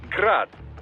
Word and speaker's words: Grad: a Ukrainian way but most in the business pronounce it as grad Russian style crazy to think I'd